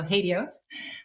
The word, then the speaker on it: HATEOAS: flexible apis with spring katios i've i've just learned how to pronounce that so hadios with greg turnquist and